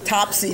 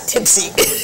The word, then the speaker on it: Topsy: Topsy, not Tipsy. Topsy. I said Tipsy? Oh, you correct me, please, as many times as you want. Topsy. Topsy. He sounds... Remember Top Hat.